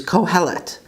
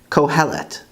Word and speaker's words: קהלת: Ecclesiastes in Hebrew is Kohelet, Kohelet.